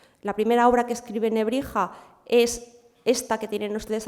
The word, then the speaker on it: Nebrija: A partir de ahí, lo que ocurre es lo que le ocurre a las silbantes, a las X, S en latín, en castellano, perdón, del 15 y del 16, que terminarían pronunciándose como una J. De tal manera que de ese Antonius Nebrisensis se coge el nombre español, Antonio, se mantiene Nebrija como si fuera español, que no debería haber sido, y se comienza a pronunciar Antonio de Nebrija.